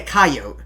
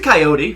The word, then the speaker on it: coyote: that they hit a coyote is that how you pronounce it coyote it's a coyote but we'll go coyote I love that coyote